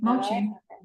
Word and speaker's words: Mocci: Is it Mocci? Yeah, you said it perfectly. Mocci. I feel like you pronounce it differently.